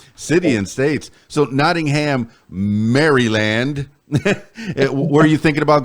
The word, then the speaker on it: Maryland: It's really, if you look at it, it's Maryland. Yeah, Like Mary, not Maryland.